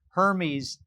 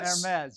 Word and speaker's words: Hermes: uk company's name is hermes yes spelled the same pronounced differently yes but my french pronunciation is never that great so i uh but uh hermes hermes delivers 400 million